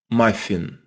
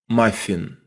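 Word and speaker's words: маффин: second one is muffin listen one more time my fin they have a mah sound at the beginning my fin and for that invision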